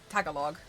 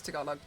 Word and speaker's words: Tagalog: the language name yeah most people pronounce it Tagalog but it's talog like I can usually